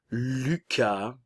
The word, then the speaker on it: Lucas: Au masculin, tout d'abord, nous avons Enzo, Lucas, n'oubliez pas ici le U français, boca de O y pronuncia I, U, Lucas, Hugo, encore une fois le